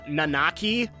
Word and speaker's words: Nanaki: name on a key I guess the original pronunciation is nanaki I've always pronounced it non-empty and I like the turn I like the the way that sounds Cosmo Canyon I wonder